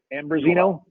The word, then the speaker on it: Ambrosino: thank you fabulous and brazina am i pronouncing your name right ambrosino yes sir here you go what